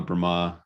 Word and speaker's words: Brahma: about lord brahma and brahma brahma have you said and brahma oh yeah it's got a little accent on the a so lord brahma and